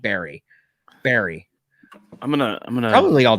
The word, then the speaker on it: Burry: Burry is the spelling. Say it like Barry.